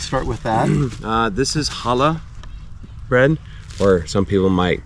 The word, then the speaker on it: challah: This is challah bread, or some people might say challah because there's a C, but the C is silent usually.